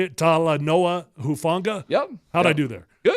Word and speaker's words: Talanoa Hufanga: Talanoa Hufanga?